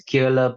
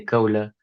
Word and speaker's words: Kohler: If you want to say it right, it's Kohler, but I say Kohler because it's much easier for everyone else.